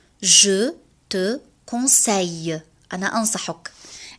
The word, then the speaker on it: conseille: Je te conseille. أنا أنصحك. عندما نجد حرفي ال في نهاية الكلمة نلفظها ي. Je te conseille. ليس دائما، في بعض الحالات.